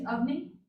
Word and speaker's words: Avni: My name's Avni. How do you spell it?